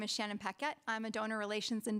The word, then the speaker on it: Paquette: Shannon Paquette, did I say it right? You did.